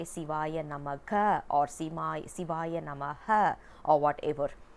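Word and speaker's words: சிவாய நம: One thing we need to understand here is, we should not say Sivaya Namaha, because according to Sanskrit, ha simply means a full stop.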